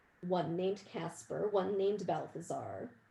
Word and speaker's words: Balthazar: named casper one named balthazar rhymes with hal the star and one named melchior